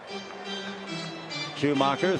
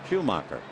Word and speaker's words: Schumaker: Schumacher, 33 years old. It's all in the pronunciation.